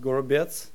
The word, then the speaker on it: Gorobets: In my native language, it's pronounced Gorobets, which it's kind of hard to write.